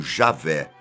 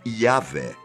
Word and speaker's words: YHWH: Não confunda com o tetragrama sagrado, aquele conjunto de 4 letras, YHWH, normalmente pronunciado como Javé ou Yahvé, e é usado para representar o nome de Deus no Antigo Testamento.